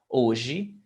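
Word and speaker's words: hoje: ochimo fuji yes and the age in the beginning of a word is never pronounced okay so oji protege yes yes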